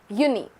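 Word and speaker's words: Juni: Similarly, J is pronounced as year. So, Yanuir, it's not January, it's Yanuir. Yuni, Yuli.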